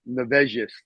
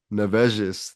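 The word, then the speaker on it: Nevėžis: Later coached for BC Nevzis. Is that pronounced it right? It's so with that triangle upside down, you would be like a Z. So it's Nevzis. Nevzis.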